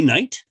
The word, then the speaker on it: night: but there's no ight how do i know there's no ight say night night what do you feel at the end i feel the t you don't feel the t because you didn't say nighty you said night you feel that excellent